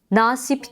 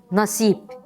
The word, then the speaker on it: nasip: uzatılmayan seslere örnekler nasip değil nasip hakir değil hakir vakur